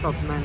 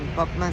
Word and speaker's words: Koppmann: Kopman. Kopman se escribe Kopppmann.